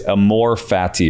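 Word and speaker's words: amor fati: Uh and uh you can pronounce it different ways. I'm just going to say it's a more fatty or fati.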